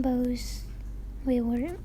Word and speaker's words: bough: I cut off some boughs. How do I pronounce that? Bows? Let me look that up. I was wondering the same thing. It's bough, so it's a branch of a tree.